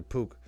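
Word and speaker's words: Puch: P-U-C-H. Oh, like a pooch. Yeah. Pook. That's how you say it? I think it was pooch. It's actually Pook.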